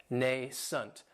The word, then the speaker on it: nascent: And this word has two syllables, and the stress is on that first syllable. It has the long A sound, nascent. That second syllable has that schwa, nascent. And if something is nascent,